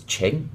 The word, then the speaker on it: Ching: name her name is Ching it's spelt Ching but the way you pronounce his chin because they don't tend to pronounce the last letters in the word and chin is a